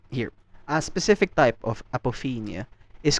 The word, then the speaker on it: apophenia: Psychologist calls this phenomena apophonia. Sorry, I hope I said it right. Apophenia, my bad.